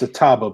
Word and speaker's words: Atiba: It's Ataba, by the way. I just want to correct you on that one, because that's what I do. It's spelled Atiba. I'm going to say Atiba.